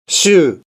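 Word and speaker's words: 週: Cara bacanya hanya satu saja. Shu. Shu juga vokal panjang.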